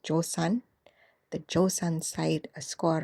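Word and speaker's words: Joseon: The Ming envoy though give the Joan side or I should pronounce it the right way. Now, I did um see that it's pronounced Josan.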